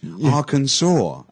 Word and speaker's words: Arkansas: people do yeah but actually it's very strange Arkansas really yeah Arkansas and the stress is on the second syllable yeah and Arkansas and